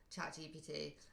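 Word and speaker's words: ChatGPT: Uh, GP Chat GPT GPT, but it's chat GPT. GPT. You you switch the B, the B, the P with the B.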